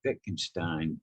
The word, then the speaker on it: Wittgenstein: a little bit, and I say it like Wittgenstein, not he said that general terms, it's the